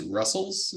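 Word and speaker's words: rustls: has supported Russ TLS which I prefer to pronounce Russell's just because it's good I don't know if they even call it rust TLs but I'm going to call it Russell's curl has supported Russell's since 2019.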